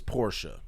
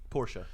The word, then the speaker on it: Porsche: it's the name is Porsche Porsche because it's a guy's name there's no pronunciation involved in that that is his name